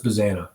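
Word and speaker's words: Bazzana: Was anybody arguing for Bazana? Is that how you pronounce it? Yeah, Travis Bazana.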